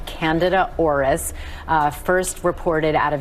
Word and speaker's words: Candida: Yeah, this is in particular a newer type of fungus called Candida auris, first reported out of Japan in 2009. By the way, it's Candida, not Candida. A lot of people mispronounce that.